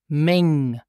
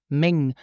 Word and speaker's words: meng: yes m mom and listen also here for the pronunciation it's pronounced Ming Ming Ming and for plural nouns